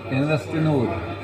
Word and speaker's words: Investinor: GBC Live with Haakon H, head of INVESTINOR, or how do you pronounce it in? You can say INVESTINOR.